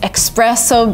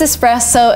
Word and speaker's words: espresso: And the second word is espresso, and yes, you're tempted to say espresso because of express and stuff, but no, it is espresso.